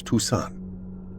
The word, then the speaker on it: Toussaint: "You pronounce her last name as Toussaint." "Oh." "It is important you remember that. She gets upset if you pronounce it differently."